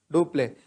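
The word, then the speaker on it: Dupleix: who is the governor of english in india do play was the governor of french in india do play so it is because of duplex role majorly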